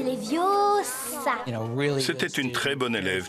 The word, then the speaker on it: Leviosa: Tu ne sais même pas le prononcer. C'est Leviosa.